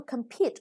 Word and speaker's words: compete: event in which people compete each other to find out who is the best and at something and the word of that a compete the second syllable is stressed prize is a now